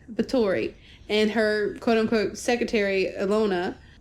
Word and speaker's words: Bathory: Bathory? I'd said it wrong. Bathory.